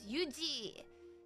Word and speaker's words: Yuji: In Korean, okay, so I have to spell my name anglicized as, but in Korean, you say it as Yuji. So it's like Yuji and Fuji.